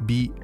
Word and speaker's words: 美: Because in Japanese, this character is pronounced bi, not mei, like it is in Chinese.